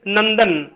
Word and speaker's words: नंदन: जैसे नंदन, नंदन कहते हैं, न के ऊपर बिंदी करके, द करके न, नंदन।